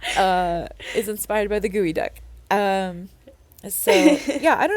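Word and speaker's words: geoduck: yeah wait no sorry it is called a gooey duck uh it's spelled g e o d u c k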